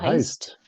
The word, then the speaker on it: heißt: Heist? Du heißt? Yes. Du So heißt. after the S, we remove the S that would be there if it's a du. So du heißt. Du heißt.